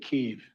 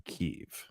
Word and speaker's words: Kyiv: When Putin invaded Ukraine, he thought he would take Kyiv and all of Ukraine in a matter of days.